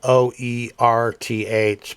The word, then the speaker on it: Oerth: expanded version of Oerth, spelled O-E-R-T-H, but famously he pronounced it with a Brooklyn accent, so it's Oerth. Imagine Popeye saying it, something like that.